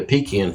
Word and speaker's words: pecan: used to be a pecan field or if you say it wrong pecan field features a two